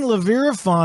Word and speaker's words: Leeviraphan: Leeviraphan.